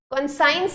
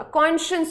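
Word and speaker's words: conscience: कॉन्साइंस नहीं होता, कॉन्शियंस होता है।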